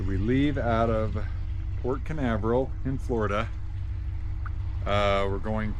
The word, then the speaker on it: Canaveral: It's out of uh Port Carnival, right? Is that how you say it? I don't know if that's how you say it, but yes. Port Canaveral.